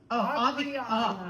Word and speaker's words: Aviana: No. Aviana. Aviana with a V.